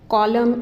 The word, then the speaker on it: column: In give, we have E is not pronounced, coverage, column, N is not pronounced, and more, E is not pronounced.